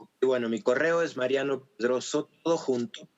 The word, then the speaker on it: Pedrozo: Bueno, mi correo es Mariano Pedroso, todo junto. Pedroso se escribe con O-Z-O al final.